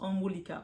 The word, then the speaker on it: Anwulika: c'est va c'est comme ça que je le prononce omulika on va yer avec omicaa ou likca donc